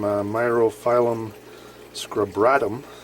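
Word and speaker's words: Myriophyllum scabratum: basically identical to this here we have some myrophylum scrubratum that's how you pronounce it commonly just known as green mario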